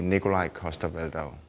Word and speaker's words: Nikolaj Coster-Waldau: you pronounce Nikolaj coster-waldau well Nikolaj coster-waldau when I'm here when I'm in Denmark it would be Nikolaj coster-waldau see how much does